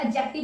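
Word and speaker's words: adjective: वैसे ये एडजेक्टिव नहीं होता। इसको हम एडजेक्टिव बोलते है। इसका जो डी होता है वो साइलेंट होता है।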